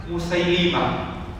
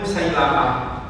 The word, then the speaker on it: Musailimah: Jadi pelafalan yang betul menurut kitab Al-Asma wal Kina adalah Musailimah dengan lam di kasrah. Sementara kalau saya ingat guru-guru saya dulu, guru SD, guru SMP membacanya Musailamah. Kalau kita baca dalam kitab Al-Asma wal Kina, maka yang lebih tepat adalah dengan mengkasrah huruf lam menjadi Musailimah.